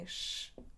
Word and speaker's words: vez: of the verb "to see/to watch" and we pronounce it: / veʃ / as well as here: vez: / veʃ /.